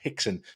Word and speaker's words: Rickson: number one learn that an R is apparently pronounced as an H in Brazilian Portuguese so while it's written as rexen apparently it's pronounced hixen so I'm going to